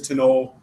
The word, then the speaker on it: Tinole: So the pronunciation is Tinole. It's based on an Irish word. The original spelling is it's closer to that Irish spelling, but just kind of wasn't working for folks.